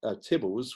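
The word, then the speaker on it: Theobalds: It was rebuilt at the house known as Tibbles, which is pronounced Theobald's, and you can still see it there to this day.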